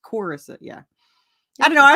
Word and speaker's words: Corissa: it doesn't fit, but it's not Clarissa. Technically, the way my parents pronounce it, it sounds like there's a U. Corissa. It's Corissa.